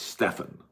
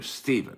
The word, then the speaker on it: Stefan: Pert Perkins is not Stefan, so it's Stefan. I don't know why I want to call you Stephen, because I've seen some Stevens spell it like you do.